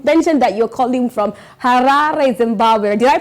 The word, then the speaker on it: Harare: And you mentioned that you're calling from Harare, Zimbabwe. Did I pronounce that correct? You did it very well. Harare, Zimbabwe.